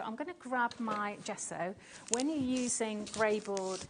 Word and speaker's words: gesso: okay so this is the G so good gesso say it like that g good I actually